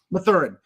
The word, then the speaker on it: Mathurin: How do you say his name? Mathurin.